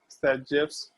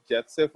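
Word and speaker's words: Zaitsev: हम लोग ये वर्ड जैसेफ रूल वर्ड यूज नहीं करेंगे, बट अगर इन केस कहीं आता है तो ये चीज ध्यान रखना कि इसका प्रोनाउंसिएशन सैजेफ के जैसा होता है।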